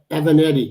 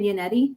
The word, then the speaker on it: Yannetti: Well, first, let's not forget about the original lawyer, the first lawyer, David Evanetti. Did I say his name right? David Yannetti.